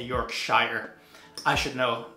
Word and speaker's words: Yorkshire: I was corrected in my pronunciation. Bradford, Yorkshire. I think I say Yorkshire.